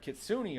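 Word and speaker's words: kitsune: a fox spirit and it's not kitsun kitsun the E makes the E makes a sound um they went from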